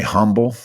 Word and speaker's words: humble: being humble you see I didn't say humble I said humble because the H is silent because let's start off